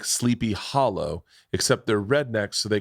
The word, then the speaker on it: Sleepy Hollow: the headless horseman was in sleepy holler but it was sleepy hollow they say they pronounce their o's so hometown girl okay